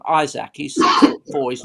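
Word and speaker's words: Isak: vladovic and this alex a lot of people are pronouncing it izak right it looks to us like um isaac he's supposed for he's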